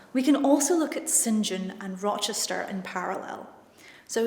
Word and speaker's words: St. John: can also look at Sinjin and Rochester in parallel so Sinjin and that spelt st. John but it's pronounced Sinjin as a name is